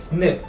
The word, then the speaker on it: ن: N.